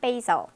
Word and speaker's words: basil: basil, 이거 바질 아니에요? basil입니다. 이건 듣기도 많이 나왔어요, 문제에. basil이었어요. tomato, banana, basil.